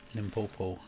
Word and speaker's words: Limpopo: Also, not badly pronounced, okay. Limpopo.